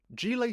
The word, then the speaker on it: Gillet: Gillet is a Belgian car I thought I pronounced it Gillette.